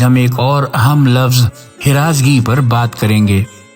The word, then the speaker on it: ہراس: ایک اور اہم لفظ ہراسگی پر بات کریں گے۔ فارسی میں ایک لفظ ہے ہراس، یعنی ہے کے نیچے زیر کے ساتھ۔ اس کے معنی ہے